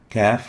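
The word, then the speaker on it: قاف: fair if fair if the next letter is the calf kaf looks like this and is equivalent to the english key and is pronounced as as in click ick and it articulates between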